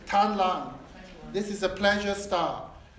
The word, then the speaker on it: Tan Lang: This is spelled T-A-N. T-A-N, not T. Tan Lang.